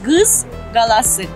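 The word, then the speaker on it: Qız qalası: Maiden Tower in Azeri is pronounced as gız galası.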